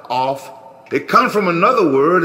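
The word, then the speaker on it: אף: The Hebrew word in the Strong's Concordance is 639, pronounced as Alf, spelled A-L-F. A-P-H, Alf, or off.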